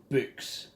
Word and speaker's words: book: For an England, book and buck are pronounced exactly the same way.